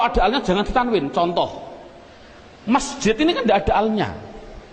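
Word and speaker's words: مسجد: Adapun depan ada tulisan mim sim jim dal, bacanya apa? Masjid. Mengapa kok dibaca masjid? Mbok dibaca misjid saja.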